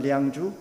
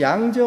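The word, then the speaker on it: 良渚: 도시에 있는 그 량주라는 중국 발음은 량주, 우리 발음은 양저라는 그 신석기 문화에서 발견된 옥기에 새겨진 도안입니다. 그리고 사실 이 양저 문화, 량주 문화 옥기에서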